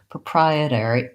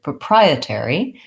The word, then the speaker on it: proprietary: only difference there is instead of an or with o are pronounced ER or proprietary proprietary we do have some changes so this flap T is no longer a flap because this T starts the syllable teri I'm actually going to